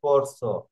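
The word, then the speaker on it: corso: এর তো কনসোন্যান্টে, হ্যাঁ এই জন্য এটা কি সর মতো উচ্চারণ করছে, এটা হয়েছে করস, এটা হয়েছে পেরসা।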